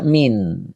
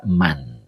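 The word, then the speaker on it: مَن: Eh, jadi kalau dibaca taqadama ini adalah fi'il, maka ini tidak boleh dibaca min, harus dibaca man.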